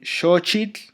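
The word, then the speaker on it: xochitl: Eh, la X suena como sh, o sea, por ejemplo, en shochit flor eh mexisco, la forma original de la pronunciación original de México era meisco, mhot que significa ejote.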